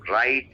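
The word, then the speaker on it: write: First form राइट, second रोट and third रिटन। इसमें भी W silent है। आर से पहले डब्ल्यू साइलेंट होता है इंग्लिश में।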